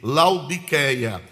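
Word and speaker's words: Laodiceia: E meus irmãos, laudiceia vem de duas palavras gregas, lau e dique, laudiqueia. Se seria esta a pronúncia correta.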